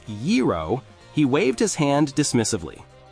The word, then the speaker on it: gyro: At a Greek restaurant, an American tourist tried to order a gyro, but pronounced it gyro with absolute conviction. When the waiter patiently corrected him, "It's yero," he waved his hand dismissively.